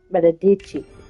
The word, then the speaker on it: Medici: Medici.